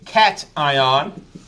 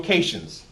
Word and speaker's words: cation: It's called a cation. And this one here, negative, is called an anion. My Hispanics love to call them cations, which I understand, but that's not the way you pronounce the word.